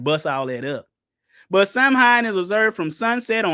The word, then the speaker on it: Samhain: Pronounced Samhain is a Wiccan holiday.